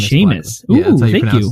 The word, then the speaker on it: Seamus: Brackley sorry seus Blackley Sheamus Sheamus that's how you pronounce that like Sean sea right Otto Burks and